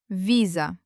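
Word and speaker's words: виза: The first word, visa. The stress is on the first syllable, on the letter E. Let's read. V before E becomes soft.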